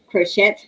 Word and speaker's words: crochet: like um crochet okay you don't pronounce the the t like crochet you don't you crochet it's french so certain things you know